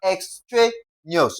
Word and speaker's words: extraneous: We're going to stress the syllable before the last. That is what now? Tra. Okay, we have ex tra neous, okay?